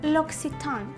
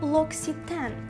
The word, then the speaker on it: L'Occitane: Наприклад, це французьке слово. А тому на батьківщині вимовляємо L'Occitane, наголошуючи перший склад. Американізований варіант звучатиме L'Occitane.